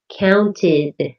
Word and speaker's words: counted: The ed sounds like id, counted.